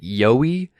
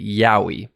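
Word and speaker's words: Yowie: me and correct the way that I was pronouncing the name I was calling it yoi when I actually should have been calling it yahi at least at least I hope that's what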